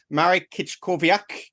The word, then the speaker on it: Marek Kiczkowiak: today to have uh Marik kit kovak uh how did I do marrick on that one you're pronouncing your name okay perfect perfect it was spot on thank you so it's